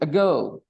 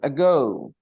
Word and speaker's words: ago: word ago so I'm reading it for you a girl now tell me where is the stress on the first syllable or the second syllable a girl seconds syllable so how do you decide these